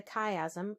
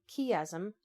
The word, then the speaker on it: chiasm: other style of pattern the chiasm or chiasm pronounced either way is the backbone of